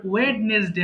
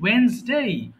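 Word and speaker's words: Wednesday: থেকে থিউজ বলবা টিউসডে এরপরে ওয়েডনেসডে হবে না হবে কি ওয়েনসডে ওয়েসডে এরপর থারসডে ফ্রাইডে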